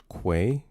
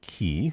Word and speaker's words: Quay: It's pronounced Quay. Say it with me now. With a Q. Quay. Mm-hmm. Quay. Not what? Key.